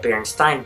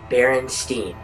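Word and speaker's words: Berenstain: you may have just noticed that I said Berenstein bears and out there and steam bears oh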